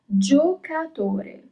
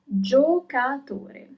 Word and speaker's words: giocatore: Player is giocatore. You pronounce all the letters, giocatore.